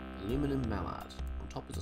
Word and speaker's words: Aluminum: And of course here in Australia we would say aluminium, but because it's a proper noun, I will pronounce it the way it is written.